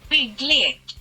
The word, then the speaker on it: BYGGLEK: About the name, according to Google Translate it means constructions game, but I cannot even get close to the original pronunciation, which is supposed to be something like this. BYGGLEK.